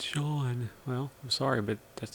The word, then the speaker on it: Sean: Guys, it's not Scene, it's Sean.